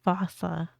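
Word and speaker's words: fossa: But the day fussa fauca. I I don't know this one. This This one's cool. Lemurs everywhere. The fousea. Although with its spelling, I'm pretty sure it's actually fauca. But the day I pronounce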